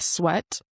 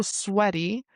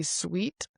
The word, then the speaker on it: sweat: that you are so sweaty that your clothes are wet with sweat. And remember the word sweat. A lot of people mispronounce this word and say sweet, but it rhymes with the word wet.